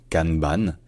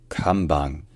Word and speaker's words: kanban: ça se dit plutôt kambang kambang c'est-à-dire en fait que le N se prononce de manière contextuelle en japonais lorsqu'il précède un B ou un P ça devient me donc